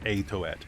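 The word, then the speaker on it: Aytoet: uh so this is Mount itouette or a toet if you want to pronounce it that way ay to at so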